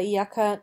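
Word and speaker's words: إِيَّاكَ: verse Iyaka naburu wa iyaka nastainu. Thee do we worship, and of thee do we ask aid. Here the hamza of Iyaka, properly Hiyaka with silent h, is disjunctive, and therefore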